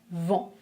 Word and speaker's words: vent: relâché elle tombe un peu vers le bas vent 20 vents 20 vents maintenant comment est-ce que vous prononcer ce mot je prononce mon les lèvres